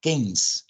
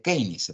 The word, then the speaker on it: Keynes: que es John Mayer keines en verdad no se pronuncia kein se pronun keins vale Pero bueno si